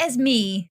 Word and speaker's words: Esme: name esme right uh it's like as me as me but i get so used to being called esme because everyone pronounces it